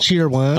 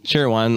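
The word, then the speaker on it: Cheerwine: cheer wine cheer wine cheer wine okay okay good that's that's the correct way mm cherry wine a lot of people say cherry wine I do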